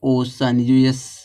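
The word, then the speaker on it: ocean: देख लो ओशन कैसे लिखा जाएगा, ओशन, जो यह बड़ा सा है या किसका है, वो प्रोनाउंसिएशन है सी का, तो हो जाएगा ओशन।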